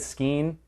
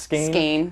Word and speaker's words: skein: is I've always said skein kind of like you always said Crown um apparently it's pronounced skin who knew all right